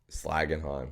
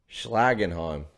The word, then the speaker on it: Schlagenheim: If you can't pronounce it, you can't slag it off. Slagenheim.